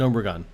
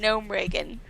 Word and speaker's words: Gnomeregan: Gnomeregan. Gnomeregan. Yeah, Gnomeregan infantry. He's a 1/4 charge He always taunt. calls it Gnomeregan.